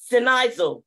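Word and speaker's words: σινιάζω: to the word sift in the Greek is sinaiso I'ma spell it for you it's s-i-n-i-a-v-o and it means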